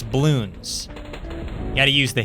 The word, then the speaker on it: Bloons: It's not balloons, it's balloons.